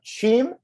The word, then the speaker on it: Cheam: Now I'm going to try to pronounce this correctly. Uh, Chim. Yeah, you got it. That was good. Good job. Okay, there you go. Uh, I was I was between that and Keem and I wasn't totally sure, but uh, so